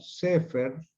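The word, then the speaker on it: סֵפֶר: Pero fer, pongo no per, sino fer, porque observen que no lleva dagesh lane. Por lo tanto, no se pronuncia fuerte.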